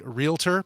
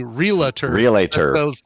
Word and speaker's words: realtor: but that's funny quinoa one that bugs me all the time is when people don't say realtor because they sell real estate they're not a realator reala estate yeah reala